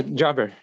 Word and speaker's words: Jaber: Jaber? Yeah, Jabber. Jaber. Okay. Never know where the emphasis is on the syllable.